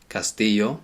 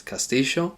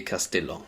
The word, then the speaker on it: castillo: is a castle now the Double L in Spanish it sometimes pronounced as a y Castillo sometimes as a J castill in artina they pronounce it as castio but it's never a